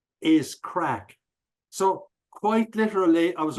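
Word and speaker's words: craic: there too so no it's actually spelled a bit little bit different c r a i c but the pronunciation is crack exactly the same friends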